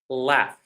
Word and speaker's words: laugh: So all the three first words the GH is pronounced as an F.